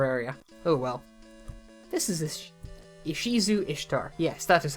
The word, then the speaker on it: Ishizu Ishtar: This is Ishizu Ishtar. Yes, that is how her name is pronounced.